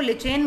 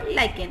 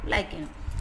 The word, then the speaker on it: lichen: Actual में बहुत सारे बच्चे इसको लिचेन बोलते हैं. The pronunciation is not correct. You will use the word लाइकेन. इट इज अ लाइकेन.